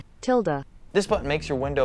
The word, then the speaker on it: tilde: forwards the tild button i think it's pronounced tilled not really sure tilda this button makes your